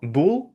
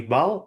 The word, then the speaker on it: bull: А как, кстати, запомнить, кто знает, что вообще вы знаете, что bull, почему будет вот этот вот bull? И вы все знаете, кстати, почему. Это произносится не бал, а произносится bull.